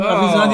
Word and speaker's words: Arvisionadu: Did I pronounce that right? Arvisionadu. Perfect. Really? Your Arvisionadu is perfect.